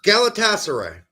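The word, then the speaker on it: Galatasaray: Galataser.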